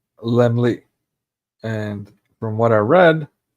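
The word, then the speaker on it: Laemmle: um okay so founded by Carr this is pronounced lmly and from what I read That's supposed to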